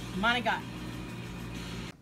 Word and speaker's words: manicotti: to say this word managot managot money got yeah man got money got when people come in and ask for manicotti it's almost like they cursed at me you have to say manotti um I was in